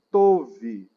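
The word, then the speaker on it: טוב: Essa palavra aqui é tove. Tove. Se alguém tiver a gramática e a parte física, é só escrever tove, que é a pronúncia.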